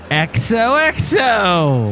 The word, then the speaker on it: Exohxo: Exohxo.